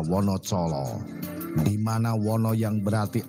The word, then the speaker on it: Wonocolo: Dulunya Wonocolo mempunyai ejaan Wonodijolo, dibaca Wonocolo, di mana Wono yang berarti alas atau hutan, Colo berarti obor atau penerang.